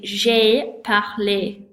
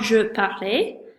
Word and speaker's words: j'ai parlé: It's really important with your pronunciation as well that you say j'ai parlé, not je parlais, because je parlais sounds like something different and it will mean something different for you as well.